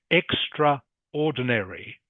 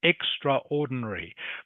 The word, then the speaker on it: extraordinary: Okay, it's actually when you see it written down, it looks like it should be pronounced extraordinary, but the A in the middle is silent.